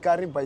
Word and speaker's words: Kariba: So the word kariba is driven from the word kiva and the white people they couldn't pronounce and call it where there is v they put b they just flip a tongue.